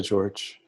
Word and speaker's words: Jorge: the name Jo Archie I think he goes by George so he goes by both so it's just he says George is okay but sometimes his own